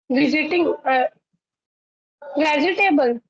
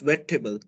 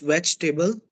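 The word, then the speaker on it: vegetable: do we call this visiting uh table H so the correct pronunciation is wet table what table it's wet table the second e is silent those there are plenty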